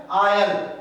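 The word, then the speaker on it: I'll: इसके बाद देखिए आई और विल को हम जब शॉर्ट में लिखते हैं तो लिखा जाता है ऐसे करके, और इसका उच्चारण करते हैं आयल।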